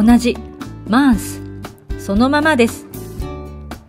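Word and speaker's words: mince: 意味の形容詞 mars m e n 生うーんと書いてまーすと発音しますが女性型は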